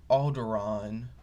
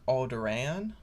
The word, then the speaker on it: Alderaan: of the movie i he pronounced alderaan more like aldorann which isn't as much